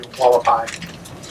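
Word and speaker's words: Hualapai: The reason is it's run by the Wallapai Indians, spelled with an H but pronounced W, Wallapai.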